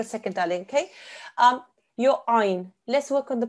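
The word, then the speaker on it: ʿayn: Ayn comes from the middle of your throat. If you put your fingers on the middle of your neck, okay, that's the where the place where the sound should come from, okay?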